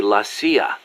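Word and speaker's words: la CIA: Around here they say Lassia instead of CIA. Huh. Um, nothing strange about it. That's how it's pronounced when you read it in Spanish.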